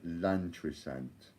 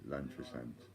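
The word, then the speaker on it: Llantrisant: So it's the Premier Inn in Lantrisant. That's spelled L-L-A-N-T-R-I-S-A-N-T, Lantrisant, Premier Inn.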